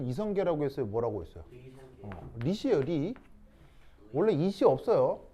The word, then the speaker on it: 리: 리시예요, 리. 원래 이시 없어요. 원래 리시인데 그걸 일본 애들이 리성계를 이성계라고 발음하라고 억지로 시켜가지고 우리가 지금 이성계라고 발음을 하는 거예요.